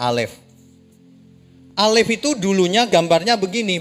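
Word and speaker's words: אלף: Ini bacanya Alef.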